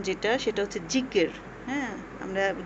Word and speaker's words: যিকর: ভাষায় জিকির কথাটি প্রচলিত হয়ে আসছে আসলে সঠিক উচ্চারণ যেটা সেটা হচ্ছে জিকির হ্যাঁ আমরা জিকির বলি আসলে সঠিক উচ্চারণটা হবে জিকির।